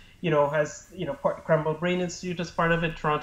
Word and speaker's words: Krembil: I just want to ask you finally about how the Krembil in your research, how is it Krembil? That's pronounced correctly. Yeah, Krembil.